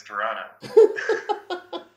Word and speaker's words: Toronto: you go see it's crazy can't be should pronounce that second tea though right it's Toronto thanks guys all right